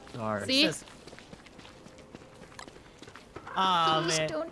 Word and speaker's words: Darzeth: It's Darzeth. What is this? Darzeth. Darzeth.